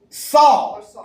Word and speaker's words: Saul: And they fetched from there a young man of beautiful eyes and a comely aspect, whose name was Saul. That's how you say it in Hebrew.